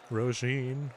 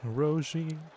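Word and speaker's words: Róisín: that makes sense oh it rhymes with Jolene okay rosheen rosheen nice clip I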